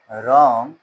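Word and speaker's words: wrong: When you pass a रॉन्ग judgement. W को नहीं पढ़ना है। डब्ल्यू साइलेंट लेटर है। रोंग नहीं पढ़ना है।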